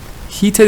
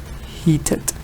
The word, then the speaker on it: heated: Heated is one of them that gets the ed. Like when it gets the ed, it's pronounced like it. Heated.